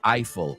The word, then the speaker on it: Eiffel: Gustav Eiffel that's right we say Eiffel in English I don't know if it's the correct pronunciation in French I'm telling you in English we say the Eiffel Tower not AEL as they say in Spanish uh Laura also got